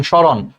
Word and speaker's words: স্মরণ: যদি ম ফলা থাকে যেমন স্মরণ স্মরণ বানানটা দেখো শব্দের একদম আগে হচ্ছে ম আছে তহলে দেখো সেই উচ্চারণ করার সময় কিন্তু সেই মটা উচ্চারিত হয় না আমরা কি কোথাও বলি সমরণ সমরণ কিন্তু আমরা বলি না স্মরণ বলি এজন্য বলছে শব্দের আদ্য ব্যঞ্জন বর্ণের ম ফলা থাকলে সে মর উচ্চারণ হয় না এজন্য দেখ স্মরণ উচ্চারণটা